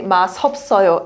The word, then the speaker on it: 맛없어요: But I said be careful not to say 맛없어요 S sound, right? You should say 맛없어요 D sound.